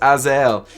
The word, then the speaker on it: Azael: The name of this shoe is pronounced Azael.